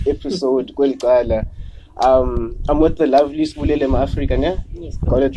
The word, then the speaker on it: Sibulelo Mafrika: I'm with the lovely Sibulelo Mafrika, yeah? Yes, got it right, pronunciation, everything.